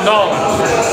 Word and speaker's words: New Orleans: It's correctly pronounced Nolens.